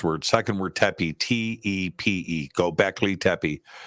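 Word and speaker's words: Göbekli Tepe: Twitter or posted up in and how to spell it um go Beckley tapi g-o-b-e k-l-i that's one first word second word Tepe t-e-p-e go back Lee tepy it's also spelled g-o-e but you can also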